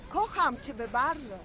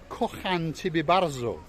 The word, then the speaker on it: Kocham ciebie bardzo: Kocham ciebie bardzo. Kocham ciebie bardzo.